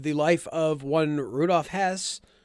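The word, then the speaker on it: Höss: Real quick, just because we're going to say his name a lot, I'm not going to make the effort to say Hess every time. Hess. It's Hess's fine. Hess is fine, mostly because he's a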